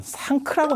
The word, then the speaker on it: 상크: 근데 이 서역 사람들은 상크라고 발음을 한다는 거예요. 이거를. 상크라고 발음하는데 상크가 그냥 상크가 아니고 상크. 크가 거의 묵음에 가까운 거예요.